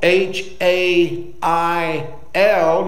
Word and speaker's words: hail: here's what i've learned you put two vowels together in the english language the first vowel is long the second vowel is silent so h a i l you don't hear the i but it'll be hey